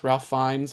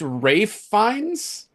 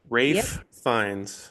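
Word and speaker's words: Ralph Fiennes: It's Rafe Fines. Rafe Fines. Rafe fines. Well, where does is the I guess the L is silent.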